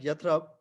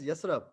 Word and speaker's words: Yathrib: Hassan, in English, it's called as like Yathrab, but it's basically called pronounced as Yasrab.